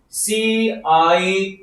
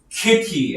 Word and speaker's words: city: C-I-T-Y 하면 kitty 아니죠. city 그리고 C-Y-B-E-R 하면 어떻게 됩니까?